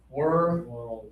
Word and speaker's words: world: My grandparents were old, okay? Right? They were old. So, we have to slow this down to two syllables like that and say world cup, okay? So, let's practice it as two syllables.